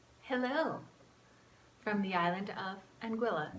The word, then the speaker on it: Anguilla: Hello, from the island of Anguilla. That rhymes with Manilla, vanilla, and kind of spirulina.